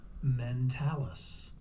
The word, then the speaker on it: mentalis: information about the mentalis if you don't know how to pronounce it meant Alice meant Alice there you go and